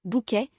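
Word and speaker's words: Bucket: Elle incarnait Yassine Buket qu'elle insistait pour prononcer Bouquet dans la célèbre sitecom britannique qui pignupirance madame est servie en français.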